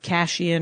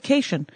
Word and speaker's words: Cation: My sister, Darla Cation, who pronounces her name in a way that many people want to pronounce my name, which is with Cashian or Kashian, or she ethnics it up. I don't know why. Our dad always said Cation.